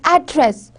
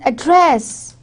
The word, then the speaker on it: address: If there is one that is address, in American the stress is on first syllable is address, and whereas in Britishers it is address.